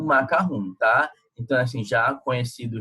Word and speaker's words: macaron: O macarrão se pronuncia macarrão, como se tivesse 2 S's, mas se escreve macaron.